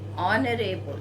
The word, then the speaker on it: honorable: Honorable, again H is silent here.